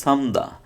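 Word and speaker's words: 삶다: Same রিউল মিয়ম থাকলে রিউল উচ্চারণটা বাদ যাবে, শুধু থাকবে কি, মিয়মের উচ্চারণ থাকবে। দেখেন এখানে এই যে রিউলেরটা থাকবে না, সুতরাং সামদা, সামদা অর্থ হচ্ছে কি, হালকা সিদ্ধ করা।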